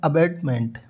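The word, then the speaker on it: abetment: सामने जो वर्ड दिया हुआ है वो है अबेडमेंट। तो सबसे पहले हमें इनका उच्चारण है वो प्रॉपर पता होना चाहिए। प्रोनाउंसिएशन होता है वो अच्छे से आना चाहिए। तो लिखा है फर्स्ट वर्ड हमारे पास है अबेटमेंट।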